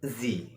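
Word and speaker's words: sie: in German is R she in German is z s i e and you know s pronounced as Zed in German if we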